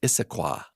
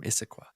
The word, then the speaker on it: Issaquah: His name's Andrew from, I think it's pronounced Issaquah, Washington. Andrew from Issaquah.